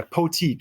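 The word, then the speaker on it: Potique: starting with p yeah poteek it's like boutique but it's spelled p-o p-o-t-i-q-u-e just very very nice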